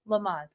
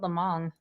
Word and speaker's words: Lamaze: Am I saying it right? Lamaze. Lamaze. Lamag? Maz. M-A-Z-E. Lamaze. What did I say? You said Lamong.